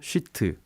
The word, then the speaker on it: sheet: SHEET 나노 발음 잘하셔야 됩니다. 예. 욕하시면 안 되고 그 수준이 너무 작아서 나노 쉬트 구조다라고 해서 뭐 나노시트 FET 이렇게 말씀하시는 분도 있습니다.